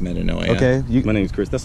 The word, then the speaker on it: metanoia: It's not even pronounced metanoia.